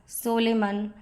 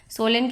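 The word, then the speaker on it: solemn: सिनोनियम है वर्चस, वर्चस, pure, honourable, immaculate, Holi, पायस, सोलेमन, सोलेन कहते हैं इसको, मॉडेस्ट, सोलन पढ़ेंगे फ्रेंड्स, सही प्रोनाउंसिएशन इसका सोलन है।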